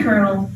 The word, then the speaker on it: colonel: know that colonel army kernel is spelled weird why is it spelled colonel and why isn't there an r i thought it should be c-e-r-n-e-l but who knows another